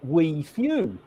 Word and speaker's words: WIFU: But I pronounce it we few, because not many people have got that attitude.